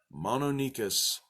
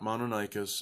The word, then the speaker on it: Mononykus: a great day and remember mono NICUs not modern I cuss and it's spelled with a k thanks